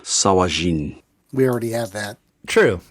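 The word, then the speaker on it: sahuagin: men in sahagan so this is a dwarven translation of an elvish word so it is pronounced sawajin we already have that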